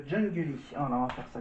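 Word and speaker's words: Jungeli: qui s'appelle jungly jungly ça se prononce donc jungly al on va faire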